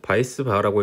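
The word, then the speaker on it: Weisbach: 윌리엄스 식이라는게 있고요 달시 바이스 바 식이라는게 있습니다 얘가 이름이 뭐 원래 이렇게 뭐 이런 식으로 써 있는데 이게 영어가 아니어 가지고 바이스 바라고 읽는 것이 맞습니다 뭐 하젠 포 아질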